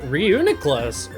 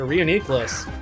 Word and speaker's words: Reuniclus: walked into it anyway reunit Class A reuniteclus however you want to pronounce it it doesn't really matter to me both pronunciations sound correct um kind of want